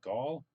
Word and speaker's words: Gaol: Here's the old Melbourne Gaol. Is that how you pronounce that? It was just jail, right? Jail. That's how they spell it.